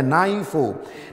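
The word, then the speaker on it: νήφω: yunaninya adalah naipo ya Kalau tulisannya nepo bacanya naifu dan kuasailah ini artinya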